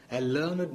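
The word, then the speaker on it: learned: have ലേൺഡ് എന്ന് പറയില്ല ലേണഡ് മാൻ ഒരു പഠിപ്പുള്ള മനുഷ്യൻ എന്ന് പറയുമ്പോൾ അവിടെ ലേൺഡ് മാൻ എന്ന് പറയില്ല ലേൺ ഇറ്റ് ലേൺ ഇറ്റ്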